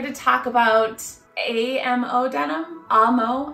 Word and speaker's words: Amo: talk about Amo denim ammo I think it's pronounced ammo ammo denim ammo um